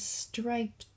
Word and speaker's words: striped: The last cat is striped. So we look at it like that. There's the word stripe. Striped. It has the t sound at the end.